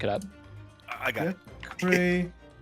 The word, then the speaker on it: fiacre: Fiacre pronunciation.